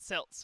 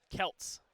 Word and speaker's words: Celts: you heading off so Celts Celts not silts alright okay geez Celtic